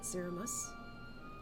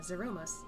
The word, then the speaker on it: Zeromus: If we can defeat Zeramos, uh, Zeromus, I pronounced that weird, then I, the source, would be safe.